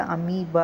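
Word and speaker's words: amoeba: இதை வந்து எப்படி பிரிக்கலாம்னா ஏ தனியாக பிரிச்சிடணும். எம்ஓஇமா, ஓஇ வந்து நம்ம ப்ரொனவுன்ஸ் பண்ணுறப்ப ஏன்னு ப்ரொனவுன்ஸ் பண்ணுவோம். பிஏ பா, இதை வந்து சேர்த்து அமீபா அப்படின்னு நம்ம சொல்லுவோம்.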